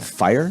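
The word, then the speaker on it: Fyre: Fry Fest. I don't watch About it? TV ever. Isn't it Fire Fest?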